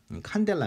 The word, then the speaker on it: 칸델라: 할 때 쓰는 단위가 칸델라 합니다 그래서 cd 라고 쓰거든요 cd 를 여러분들이 칸델라 라고 읽어 주시면 되구요 어 이게 이게 한